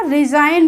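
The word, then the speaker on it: resign: डिजाइन clear है रिजाइन यहां पर भी एन से पहले जी आया तो हमने क्या बोला रिजाइन बोला मतलब जी को हमने साइलेंट कर दिया जी का हमने प्रोनंसिएशन नहीं किया नोम नोम हो गया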